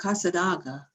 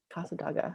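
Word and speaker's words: Cassadaga: It's a place called Casadaga. Casadaga.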